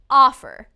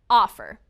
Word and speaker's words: offer: about the verb offer offer again the first syllable is stressed offer when the first syllable